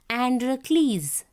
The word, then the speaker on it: Androcles: Children, see this one you have to pronounce Androcles.